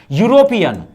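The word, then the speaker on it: European: य य मैच कर ई को मत देखो य यूरोपियन यो य मैच कर रहा है इसमें नहीं मैच कर रहा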